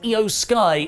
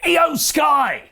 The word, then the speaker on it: IYO SKY: set up Bianca vs IYO SKY in a singles match later on. Sorry, I think I pronounced that wrong. I want to properly get Japanese wrestlers names correct. It’s actually pronounced IYO SKY.